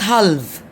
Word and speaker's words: half: letter in the middle have have not halved all right talk talk woke walk okay so we have silent l in the middle of these words all right half all